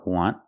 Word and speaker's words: want: The first, want, use the short sound, want.